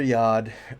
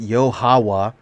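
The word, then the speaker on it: YaHoWha: a lot of people's wives yeah it's father yard uh or actually pronounce it's pronounced yohawa uh let's see let's get a little into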